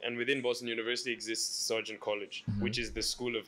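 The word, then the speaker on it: Sargent College: I saying it right Sergeant Sergeant College yeah Sergeant College what that I mean I I I tried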